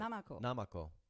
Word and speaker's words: Namako: Namako. Namako. They don't have a There's no actual accent on any syllable.